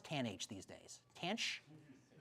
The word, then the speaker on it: tanh: Tanch. He's my guy who knows. Jake Nick, do you know how they they call it tanch?